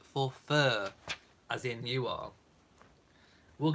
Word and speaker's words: Forfar: twister spelled f o r f a but pronounced for fur as in you are we'll get there um